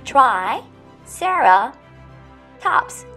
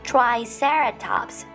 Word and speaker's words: triceratops: know it yes triceratops repeat with me try sarah tops triceratops this dinosaur is a